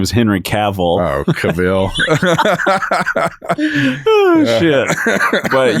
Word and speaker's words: Cavill: I feel like a man who's got like that Henry Cavill look, very chiseled off jawline, fresh shave.